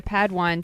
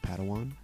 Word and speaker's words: padawan: master yoda assigned a pad one to this bold jedi it's pronounced padawan oh padawan excuse me